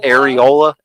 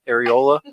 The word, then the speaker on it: areola: you're okay or Errol how do you say that word Ariel Ariel areola areola what about you um what